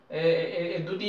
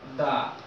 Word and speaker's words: the: দা বসাবো দা মোর এখানেও দা উচ্চারণটা দা হবে এখানে দি হবে না যেহেতু ভাওয়াল সাউন্ড আসতেছে না ঠিক দ্য মোর ইউ